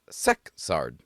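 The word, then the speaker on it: Szekszárd: And it's actually pronounced sexard.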